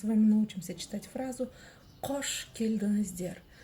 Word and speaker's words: келдіңіздер: Слово келдіңіздер мягкое, потому что везде стоят мягкие гласные буквы.